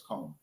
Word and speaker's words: Comer: Yeah, it's Comer.